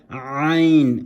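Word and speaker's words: عين: Then you have the ayn, which comes from the throat, letters of the throat. Ayn, you have to really grind that letter.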